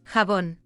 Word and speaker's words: jabón: And Shabon, in the Japanese word for soap bubble, Shabondama, keeps the pronunciation of the 16th century Spanish, while in modern Spanish it's Jabón.